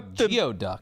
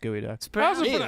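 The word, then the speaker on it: geoduck: That's a geod duck. That's a geod duck. It's pronounced gooey duck.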